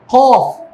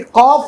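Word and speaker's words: ق: তারপরে এই যে কফ, এটাকে অনেকে বলে ফেলে কাফ, তাই না? এটা কি কফ নাকি কাফ? কফ।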